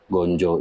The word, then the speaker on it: ganja: Gonjo itu kan istilahnya bahasa Jawa. Tapi kalau dalam tulisan pakem ya tetap ganja, tapi dibacanya gonjo.